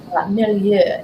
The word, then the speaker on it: milieu: Milieu, if we're going to say it within the French pronunciation.